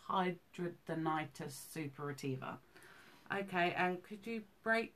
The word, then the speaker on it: hidradenitis suppurativa: right I call it HS but it's actually pronounced hidradenitis suppurativa okay and could you break down what that